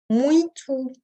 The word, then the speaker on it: muito: va se prononcer O, muito, donc le U qui se prononce OU et le O final qui se prononce également OU, et bem qui se prononce de façon nasale.